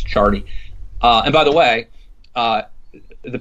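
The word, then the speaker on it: Ciardi: pronounce it right, Mark Chardy. It's spelled C-I-A-R, but I think it's Chardy.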